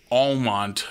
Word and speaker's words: Almont: I think the bell of the ball for street dance celebrations back home was Almont, North Dakota, spelled like almond but with a T, and population no one.